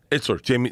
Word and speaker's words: Itzler: I must mispronounce his name. Jesse Seitzer. He lived with Cam Hanes. He's Itzler.